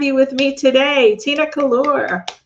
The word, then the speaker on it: Collura: Tina Collura. Collura. Am I pronouncing your name correctly? Collura.